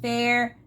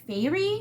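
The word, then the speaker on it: Feyre: all probably yell man her name is pronounced fair favorite fairy maybe fairy i'm going to call her fair and people need to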